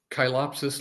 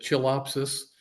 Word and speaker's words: Chilopsis: Next, we have the desert willow, Chilopsis linearis, or you may prefer to pronounce it Chilopsis. Either way is fine.